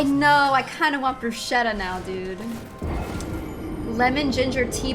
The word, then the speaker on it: bruschetta: I know, I kind of want bruschetta now, dude.